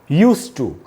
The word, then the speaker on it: used to: ऐसी हालत में ट को एक ही बार बोला जाएगा और इसका करेक्ट प्रोनाउंसिएशन होगा यूज्ड टू।